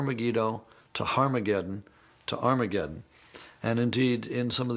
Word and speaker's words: Armageddon: to harm again to Armageddon and indeed in some of the earliest versions of the new testament written in greek our mageddon has an aspirant at the beginning meaning it's pronounced with an H so it originally was